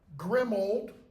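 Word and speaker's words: Grimmauld: Look how that word is spelled. Grim old or grim old place.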